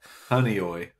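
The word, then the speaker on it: Honeoye: to pronounce it so I could get the pronunciation for it oh I was just doing that yeah honey oy wow yeah honey oy honey oy honey oi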